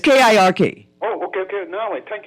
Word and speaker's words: Kirk: The thing with Charlie, how you say it? Cook or something? I think Kirk. Kirk. Yeah, it's Kirk.